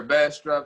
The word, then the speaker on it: Bastrop: you're at in bastrop is that how you pronounce it yes sir bass drop test ass drop i mean i love that